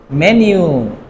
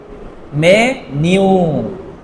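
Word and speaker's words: メニュー: অসুতরারিয়া ওকে তারপরে হচ্ছে menu মেনিউ মেনিউ ওকে long আছে মেনু কি বলেন তো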